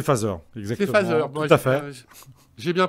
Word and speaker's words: Phaser: Phaser, c'est phaseur.